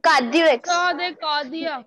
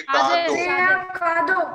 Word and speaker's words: cadeau: C'est son de cardiac. Ma'am, c'est son de cardiac. Okay. C'est son de cardiac. Anybody with correct pronunciation? C'est son de cardo.